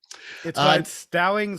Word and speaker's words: Stallings: that right this time stowing's like stallion like stallions the stallion all right uh new out